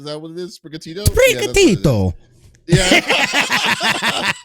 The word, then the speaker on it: Sprigatito: Sprigatito. Yeah. You gotta say it like that. It's Italian.